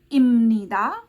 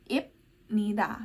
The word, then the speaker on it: 입니다: tapi harus diingat juga walau tulisannya itu ibnika kayak gitu huruf mati ya Bukan dibaca b atau P tapi dibacanya miem ya Jadi imnika bukan ibnika ya imnika bukan ibnika imnida bukan ibnida ya Sama halnya dengan